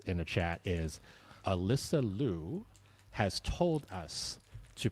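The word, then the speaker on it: Liu: Leu but she has asked the media to pronounce it Lou. Yeah she pronounces it Leu but she wants us to say but she wants us to say Lou.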